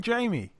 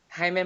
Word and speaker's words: Jaime: munguia okay Jamie munguia is he even Jamie well it's Jamie in English yes just do it in the Spanish you're the best with the accent hey me did the whole name Hema munguia okay it sounds good